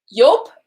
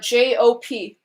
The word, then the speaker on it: Jop: So in English it would be pronounced Jop, or a lot of voiceovers would pronounce it as Jop. But in Dutch it's pronounced Joop. And I always joke around with him and say that his name is Joop, but it's actually not.